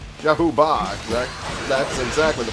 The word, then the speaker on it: Zhao Ba: Oh, I got Zhao Ba. Zhao Ba, exact. That's exactly the pronunciation.